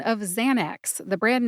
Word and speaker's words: Xanax: and you get Xanax emphasize Zan see if you can hear that emphasis when I say it again Xanax that checks the box